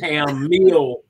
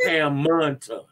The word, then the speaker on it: Hammonton: And so the Hamilton Art Center in Hamilton, Hammonton. I have to say it like that, and not Ham Mill, but it's Hammonton.